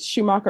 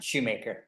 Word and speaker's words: Schumacher: Is it Schumacher or Shoemaker? Shoemaker. All right, you're Mr. Shoemaker.